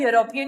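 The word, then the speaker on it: European: उसी की तरह यूरोपियन में भी यही होगा।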